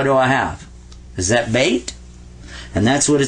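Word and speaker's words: بيت: does in arabic because the word in arabic for house is bait bait because the yah sound in arabic is just like the y sound in english watch this i wanna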